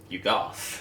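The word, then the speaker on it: Yuggoth: I also love the way that you pronounced Yugoth, which was Yugoth.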